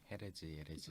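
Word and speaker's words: Jerez: 그래서 이제 원래 그 스페인이 예레즈잖아요. 네. 헤레즈. 그게 이제 미국식 발음이 이제 쉐리라 그러더라고요.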